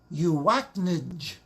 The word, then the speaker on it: UACNJ: visit our website please i pronounce it you act ninj everyone after me you